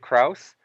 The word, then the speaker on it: Crouse: I think it'd be I believe it is crus in French and I have French heritage so whoa not crazy I and I could be wrong about that too but I definitely know that the way I was taught to pronounce my name is Kraus so maybe I'm wrong